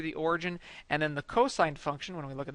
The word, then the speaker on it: cosine: and it is spelled c o s don't pronounce that Co or cos it's cosine it's just an abbreviation so cosine function and